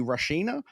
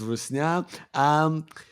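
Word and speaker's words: русня: is couldn't all the Rashina bite it out in the Badlands? First off, how's my pronunciation? Second of all, what exactly does that mean? So I would pronounce it as Rusnya.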